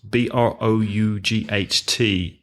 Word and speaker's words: brought: spending for example brought BR o ug HT and verbs like court CA ug HT ah so one is with o brought and one is with a caught but the pronunciation is the same exactly the pronunciation is